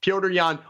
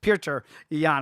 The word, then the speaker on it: Petr Yan: Petr Yan, always a slow starter, but I actually think this is a really great spot to find a Petr Yan KO prop.